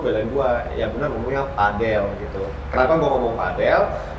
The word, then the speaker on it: padel: Dari itu sampai debat sampai gue tunjukin video ini Iga Swiatek aja yang main tenis ngomongnya Padel. bukan pedal Ya.